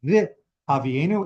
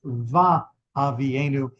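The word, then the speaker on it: וַהֲבִיאֵנוּ: Because we are coming before this vowel, it doesn't say vi havienu in the usual form of the conjunctive vav of using vav as an and. Instead, it's va havienu. That is considered the proper pronunciation.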